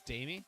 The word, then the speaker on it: Damie: Is it not Dimey? It's Damie? Oh, okay. Damie it is.